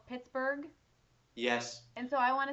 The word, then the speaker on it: Pittsburgh: If it has the H, it's the same. So it should be Pittsburgh. Pittsburgh, yeah.